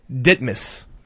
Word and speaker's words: Ditmars: There's an avenue in Queens or Boulevard spelled D I T M A R S. All right. Most people would say Ditmars, but the real locals say Ditmas.